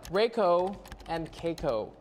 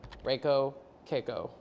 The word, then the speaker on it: Reiko: __ ] don't know tweet it back to me riko and Koo Reiko Koo got it she hashtag [ __